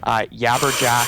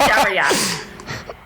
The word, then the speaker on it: jabberjack: Maybe they just talk about their yabberjack. Mispronounce it again. It's jabberjack.